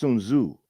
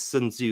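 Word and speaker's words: Sun Tzu: interesting question by the way I believe it's pronounced sunu U yeah I mean I'm using the kind of the the Chinese way of saying it but I know over here everyone says sunu because that's the way it looks but I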